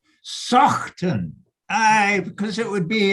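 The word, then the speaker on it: Saughton: Because Randy asked me, and I said, well, you'd pronounce that Sawton, you know, a bit like Saunton Sands or something, which doesn't have a GH in it, but you know what?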